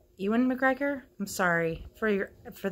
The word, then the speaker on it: Ewan McGregor: an adult and where things go it started you and McGregor dad I always say his name wrong Ewan McGregor I'm sorry for your for the Irish people